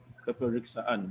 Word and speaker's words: peperiksaan: Peperiksaan. But the K is not very strong, right? Peperiksaan. Peperiksaan. I repeat, peperiksaan. Peperiksaan. Okay. The K is not very strong, but it's pronounced lightly.